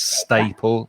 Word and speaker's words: staple: e l okay yeah and the vowel sound you need for that a is is a and the same as in words like stay or way or day so it's staple stapler yeah that's right okay